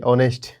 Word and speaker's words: honest: ये HONEST, ऑनेस्ट, ये औ से शुरुआत होता है, औ, तो इसीलिए इसके सामने N लगता है।